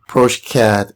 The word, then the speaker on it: progeCAD: ProCad is spelled P R O G E C A D.